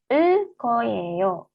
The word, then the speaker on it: 을 거예요: Tata bahasa yang kedua, 을 거예요. Yorobun di sini ada real, ketemu huruf G, real ketemu huruf G, maka bacim L ketemu G, G-nya dilafalkannya double ya.